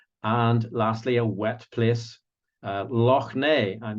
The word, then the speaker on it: Loch: And lastly, a wet place, Loch Ness, and you could try to get the kids to do the pronunciation Loch, which I know most of you English people aren't very good at saying. You say Loch most of the time, don't you?